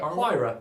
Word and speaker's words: Huayra: Do you know how to pronounce this? Huayra? Huayra.